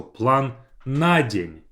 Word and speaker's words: план на день: So план на день, as if на день is one word and I put the stress on the first a.